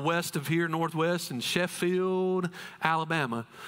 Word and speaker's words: Sheffield: Or if you're from Sheffield, it's Sherfield. It has a lot of R's in there. I don't know just the way they pronounce it, but we learned to pronounce Sheffield, Sherfield.